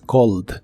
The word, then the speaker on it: called: pasado de inglés es Cold es similar a la forma del presente Solo que aquí se le agrega una e d aunque no se pronuncia la e solo la d Cold Cold no la